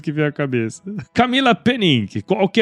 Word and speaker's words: Pennink: no no Linkedin né meu nome como você pronunciou muito bem Camila penin e também pelo Instagram Então isso é um